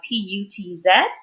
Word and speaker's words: Putz: Now, Cora Putz, spelled last name of P-U-T-Z, correctly pronounced Putz, like puts it down.